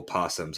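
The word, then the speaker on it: opossum: You know what's even crazier is how possum is spelled. Why does it have a silent O in front of it? Like, oh, possums. I always, anytime I read that word, I'm like, oh, it's possum, but that's not how it's supposed to be.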